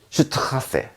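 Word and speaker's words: Straße: 그래서 발음은 슈트세 이렇게 했죠. 세는 SS 이렇게 두 개 발음이죠.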